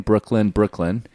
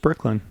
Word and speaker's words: Breuckelen: It's pronounced the same, Brooklyn.